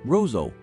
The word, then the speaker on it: Roseau: framed by Lush Peaks dominica's capital of Roseau pronounced Roseau is a colorful jumble of West Indian cottages